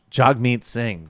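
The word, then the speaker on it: Jagmeet Singh: pronunciation of the NDP leaders name yesterday it's pronounced jug meat sind jag meat Singh bro he's just proposed a Canadian wealth tax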